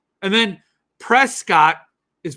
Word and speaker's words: Prescott: it tuxen I know it's Tucson and then Prescott is pronounced Prescot Arizona it's spelled Prescott but you